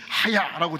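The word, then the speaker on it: חַיָּה: 때 주제이기도 한 아 히브리어로 하야라는 말이이 중간 발음입니다. 하야라고 발음 좀 틀리고 카야라는 말하면 중간쯤 하야 따라합시다.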